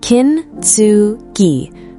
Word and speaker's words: Kintsugi: The concept is Kintsugi, pronounced Kintsugi, written with 3 characters, kin, meaning gold, tsu, meaning to connect or to join, and gi, meaning technique or method.